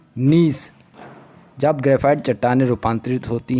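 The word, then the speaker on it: gneiss: उनसे क्या बनता है निस जब ग्रेफाइट काटने रूपांतरित होती है तो उससे निस बनता है निस की अंग्रेजी में स्पेलिंग है नेइस इसको भी आपको याद रखना है जिसमें जी साइलेंट है संगमरमर किसकी एक कायंतरित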